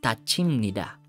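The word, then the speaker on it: 닫힙니다: So sa elevator guys, pag sumakay ka, pag nagsarado yung pinto, instead na tada yung maririnig mo, it's tathida, it's tachimnida.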